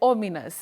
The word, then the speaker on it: ominous: O-M-I-N-O-U-S. Do you say, is it I would say like ominous. Is that the correct pronunciation, Willice?